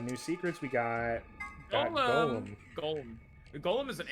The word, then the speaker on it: GOL-M: Much to his surprise, ends up being pronounced like Golem anyway.